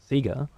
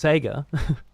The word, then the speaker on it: Sega: A good one is Sega. I know it's Sega, but it's always been Sega here, and it will always be Sega here, as far as I understand.